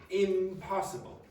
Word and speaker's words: impossible: If you produce an M, for example, an M, produce it. Go Now go p. You notice you're using your two lips for both of those sounds. It's easier to transition. Impossible. Now say n. And then say p. Now try say impossible.